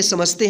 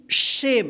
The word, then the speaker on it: shame: ठीक है, आइए एग्जाम्पल में यहाँ पे समझते हैं हम, जो क्लियर हो जाएगा पूरा। SHAME, इसको क्या पढ़ेंगे? शेम। इसको सेमे नहीं पढ़ेंगे।